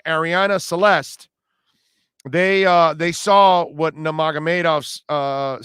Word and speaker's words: Nurmagomedov: Nurmagomedov, I believe is how it's pronounced.